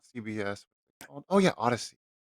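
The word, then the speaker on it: Audacy: go how do you it's an audio thing and they say it in a way that you you have to spell it otherwise no one will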